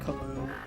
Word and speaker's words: Camus: Also, I said Cam. I think I called him Cam. It's technically pronounced Camus.